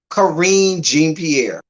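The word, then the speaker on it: Karine Jean-Pierre: So I'm gonna say it like they would if you speak in Haitian Creole. Corinne Jean Pierre.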